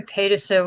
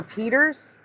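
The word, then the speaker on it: Pieterse: Oh, Peters? Yeah, is that how you pronounce it? P-I-E-T, Peters.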